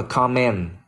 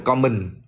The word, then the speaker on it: comment: Nó đọc là comment. Comment, âm e, không phải common, yeah, cũng không phải common nữa. Comment, comment.